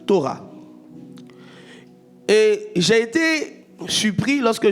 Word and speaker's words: Torah: Le mot loi ici, c'est un mot hébreu qui se prononce Torah.